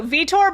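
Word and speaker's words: Vitore: Also, Vtor, by the way, is spelled V I T O R E. So, it's like vi and then the word tore.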